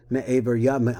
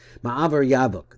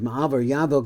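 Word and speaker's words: מעבר יבוק: mochin of godless, ha'ovrim me'aver Yavok. I don't know how to pronounce that. Ma'avar Yavok, that's what it is. Ma'avar Yavok, that is the ford, which is called Yabok.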